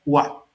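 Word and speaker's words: は: Eh, como ustedes ven, si ven la letra es la letra eh ja del giriragana, pero cuando se usa como partícula no se pronuncia ja, se pronuncia wa.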